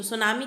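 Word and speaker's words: tsunami: and mean वे तो सुनामी किससे बना हुआ है स सु का मतलब हार्बर यहां पर टी साइलेंट है तो टी सु का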